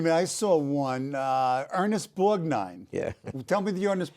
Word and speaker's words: Borgnine: I said, here's Ernest Borgnini. Right. You can't pronounce Italian names.